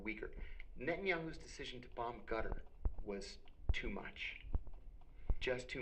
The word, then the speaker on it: Qatar: Qatar. You said Qatar. It's back here. It's called a qaf. But so I've heard Qatar. Yeah, it's not Qatar, but you're saying it like a G?